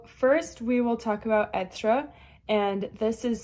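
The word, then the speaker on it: être: And as I said, it goes over the first e and that's why it's etra, not like ra or something.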